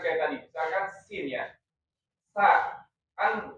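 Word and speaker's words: سين: tadi misalkan sin ya sa kan kita bacanya sa ya, bukan sya ya.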